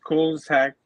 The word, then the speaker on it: Koolasheck: One I think I'm going to call is pronounced Cool as Heck, which will be like